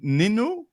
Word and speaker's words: Nino: It's Nino and Remy. So that's a Swedish pronunciation. Ninu.